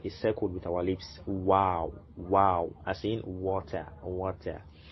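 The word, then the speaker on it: واو: The 27th one, which is this, it's called wow. So form a wow shape, a circle with our lips. Wow, wow, as in water, water.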